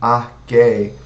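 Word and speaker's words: Archaea: Mas a gente vai aprender que na taxonomia CH tem som de Q e A junto de E tem som apenas do E, certo? Então quando você vê um A junto com E, você pronuncia apenas E. Então aqui a gente tem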